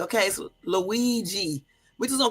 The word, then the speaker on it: Luigi: The Italian pronunciation of this name is Luigi Mangione. It's Mangione. Luigi. And next time you write it, Jermaine, it's L-O-O-E-E. And then, hold on. And then J-E-E. Okay, so Luigi. We just gonna call him Luigi.